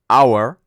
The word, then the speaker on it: hour: ejemplo la palabra hora Hour Hour eh diríamos the Hour the Hour porque empieza con una consonante la H pero es muda entonces empieza con un sonido de vocal por lo tanto tenemos